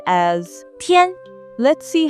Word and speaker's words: 天: 一、安、烟特、烟天天天甜甜甜 This character is the first tone, so it should be 天 The origin of this character.